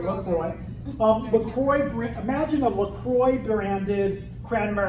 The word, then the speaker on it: LaCroix: To put into context how unusual these moves are, imagine, say, if LaCroix, is that how you guys say it, LaCroix? Yeah? LaCroix, it really should be La Croix, but that's bougie. That's probably how they actually pronounce it, places that speak French.